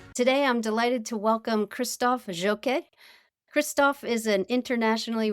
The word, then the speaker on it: Christophe: Christophe, welcome to Frontiers Health Voices.